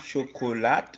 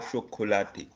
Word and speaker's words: chocolat: Okay, but I want to ask the pronunciation, is it chocolat or chocolate? Chocolat. We don't read the T at the end.